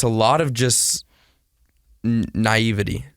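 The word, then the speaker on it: naïveté: a lot of just naivety is that how you say it naivete naivete and so um i'm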